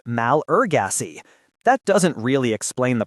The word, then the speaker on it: Malagasy: Take the word Malagasy, for example. In French, it is pronounced malgache, but in English, it's pronounced malurgacy.